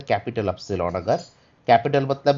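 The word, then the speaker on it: υ: this is the capital epsilon अगर capital मतलब मैं बार-बार कह रहा हूं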